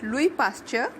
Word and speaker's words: Louis Pasteur: It is pronounced as Louis Pasteur because he was French.